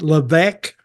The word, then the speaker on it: Levesque: Now his last name is spelled Laves Q-U-E. Is that it? Yeah. And it's Levesque.